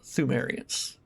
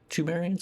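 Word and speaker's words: Pthumerians: This is just a general world lore type thing of of the the thumeriants or tumarians or thumes or whatever. The P is silent basically, but that's like the ancient race that found uh the old blood first or whatever.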